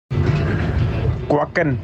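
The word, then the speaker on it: Kwiatkowski: think JP's going to pull up the proper pronunciation of quacking. This is Van Avermaet sent this. Thank you, Greg. Quacking.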